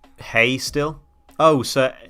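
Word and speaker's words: hej: of damage it's pronounced hey still oh sir h e j is still said like hey is that right oh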